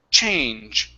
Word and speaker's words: change: a good CH sound so instead of change it's ch so we we push and then we stop the air CH change try that CH okay